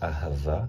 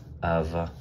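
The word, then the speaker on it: אהבה: So Aleph in the word Ahava is pronounced A. He, this He is pronounced Ha. The Bet is pronounced with the V sound, as in V, Victor, like that. And the last He is pronounced A, so not Ha, just A. And it's like, so here we have Ahava.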